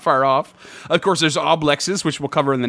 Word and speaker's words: oblex: It is actually pronounced oblex. Oblex.